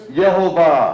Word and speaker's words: Yehovah: We know beyond a shadow of a doubt that his name is Yehovah.